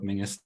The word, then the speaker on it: Menzies: I go by Mingus, the traditional way. I always try and get that in there whenever I can. No problem at all. I'm on a mission to educate the world about the pronunciation of Mingus the proper way.